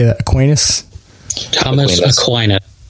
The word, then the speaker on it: Aquinas: how do you how do you say that Aquinas Klein it Aquinas okay there you go yeah you John Locke